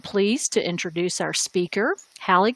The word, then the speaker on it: Hallie: And yes, my running joke to explain to people how to pronounce my name is Hallie, like Halle Berry.